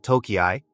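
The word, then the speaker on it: Tōkei: the early Magi period the city was sometimes called toyi an alternative pronunciation for Tokyo some surviving official English documents use the spelling toyi but this pronunciation is now obsolete history Tokyo originally a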